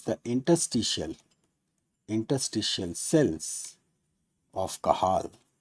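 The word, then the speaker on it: Cajal: interstitial interstitial cells of kahal right spelling is J but it is pronounced as kahal right it is interstitial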